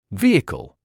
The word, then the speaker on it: vehicle: The h at the beginning of this word is silent.